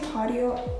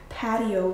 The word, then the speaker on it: patio: backyard you know why you say patio i say patio because in spanish it's patio and then i have